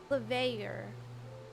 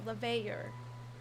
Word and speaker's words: Leveilleur: Leveilleur. Like stresses on the lev, not the A. Leveilleur. Leveilleur.